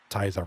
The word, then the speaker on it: Tyza: Tyza rhymes with Shiza.